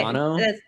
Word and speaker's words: Toronto: Not No, you say Toronto. the second T is silent almost.